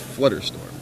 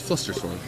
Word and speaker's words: Flusterstorm: I doubt Flusterstorm will come in, although it's always cool to see that commander card make an appearance. Is it Flusterstorm? I thought it was Flutterstorm. It's Flusterstorm.